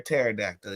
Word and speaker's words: pterodactyl: a paroda or a pterodactyl you pick because one of them one of them um constant is silent and actually pterodactyl means